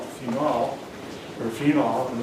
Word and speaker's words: phenol: Now, I pronounce it the correct way. Most people pronounce it the wrong way. It's phenol, not phenol.